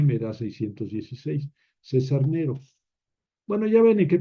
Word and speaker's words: Nero: en latín en latín porque en latín no se dice nerón se dice Nero se omite esto ya